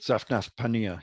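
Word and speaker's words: Zaphnath-Paaneah: I can't really pronounce it, but I do. Zaphanath. Say it. Zaphnath Paneah, yes.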